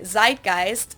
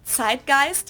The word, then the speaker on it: Zeitgeist: Americans usually say Zeitgeist. In German we pronounce it Zeitgeist, Zeitgeist.